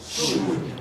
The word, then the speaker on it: should: Should. It's should. What is silent? L.